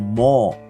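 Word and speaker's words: מור: The Hebrew pronunciation is mor.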